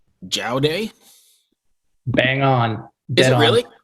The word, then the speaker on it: Jaodae: first and I'll tell you I'm gonna say jail day bang on did it really yeah I was